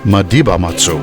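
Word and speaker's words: Malibamatsi: The Malibamatsu River that feeds into the Katsi Dam is therefore pronounced as Madibamatsu.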